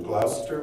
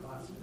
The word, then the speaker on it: Gloucester: Reverend John Murray would eventually settle in Glouester, Massachusetts. If I'm pronouncing that wrong, it's cuz I'm a Florida native. Gloucester. Glaster.